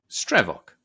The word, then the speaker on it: Stravok: And it's spelled like this. S t r e v o k. Stravok.